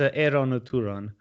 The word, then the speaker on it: Eran ud Turan: No one knows how to pronounce it. It's Eran or Turan.